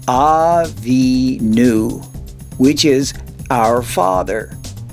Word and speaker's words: Avinu: The last letter without any dots makes the v sound. It's the vav. But this letter has a dot to the left, so it gives it the oo sound. So this syllable makes the nu sound. Put together the word from right to left and you have Avinu, which is our Father.